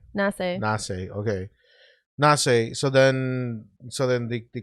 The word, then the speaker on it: Nasse: Nancy? It's Nasse. How you pronounce Nasse? Nasse.